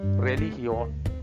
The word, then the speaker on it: religión: After the G, if letter is IOE, then sound is H sound. So religión.